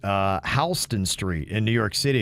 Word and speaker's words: Houston: that's very confusing because it's spelled exactly like houston texas right but it's pronounced houston yeah which is very odd i mean soho yeah south of houston yeah all those kind